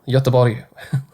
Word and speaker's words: Göteborg: I've played in Gothenburg, or however you pronounce it. That's perfect. Spot on. Göteborg.